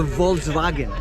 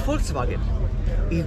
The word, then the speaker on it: Volkswagen: w you know because it's not a Volkswagen it's Volkswagen because the V is pronounced as an f and the W is a v it's a folks people